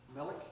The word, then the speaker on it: melic: Melic grass. Yeah, and there's a 2-flower melic grass that's a more eastern species that just barely comes to like I-35 area. And then 3-flower melic grass is the western version of that that's